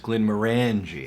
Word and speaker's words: Glenmorangie: 1918 took full ownership in the 30s it's pronounced Glenmorangie yeah and then Glenmore Moray was purchased by